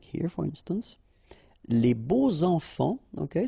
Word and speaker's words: beaux enfants: Les beaux enfants, okay, so you make the liaison between beau, so adjective, and enfant. And here it's quite interesting because even if you've got this X, well, phonetically it will be like Z, so like if it would be an S, okay?